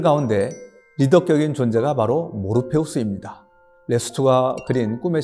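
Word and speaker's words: Morpheus: 주인공 가운데 한 사람이 모피어스 줘 뭐 피어스는 모르페우스 를 영어식으로 발음한 것입니다 그리고 어양동 잎 열매의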